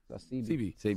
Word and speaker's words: Sebi: I thought it was Sebi. CB. My bad, I said it wrong.